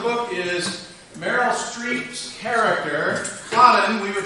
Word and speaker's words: Karen: The premise of the book is Meryl Streep's character, Cotton, we would say Karen, but it's Dutch, so it's pronounced Cotton.